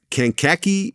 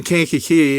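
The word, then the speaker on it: Kankakee: So, you grew up in Canaki, Illinois. Did I pronounce that right? No, you didn't. It's Ki. Okay. And I was born in Cana Key.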